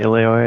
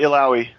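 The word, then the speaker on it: Illaoi: I have no idea how to pronounce this name. It's like Ileoe or something like that. Yeah, Ileoy, I think, is No, it's Ilaoi.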